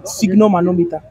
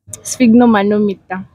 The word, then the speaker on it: sphygmomanometer: sphyg, like normal sphygmomanometer.